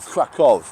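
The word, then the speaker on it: Kraków: So I am actually going to Krakow tomorrow, or Krakow as people in Poland pronounce.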